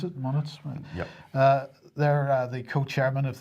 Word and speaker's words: Moniz: Moniz. Is that how you pronounce it? Moniz?